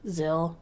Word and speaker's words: Zillo: you're right it's like supposed to rhyme with pill Zill oh Zillow is it